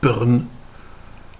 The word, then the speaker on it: pern: Eh bien en saintonge, on va intercaler une voyelle entre la consonne et le R, et on va comme ça renverser un petit peu la prononciation. Prenons l'exemple de prune en français qui va devenir pern en saintongé.